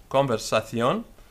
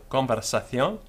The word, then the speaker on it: conversación: The Castilian pronunciation from central Spain is conversación, with C-O-N-V-E-R-S-A-C-I-O-N, with a C before the I becoming th. So, conversación. In other parts of the Spanish-speaking world, conversación.